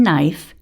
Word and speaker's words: knife: controlled vowels and then silent letters such as the k in knife and wr as in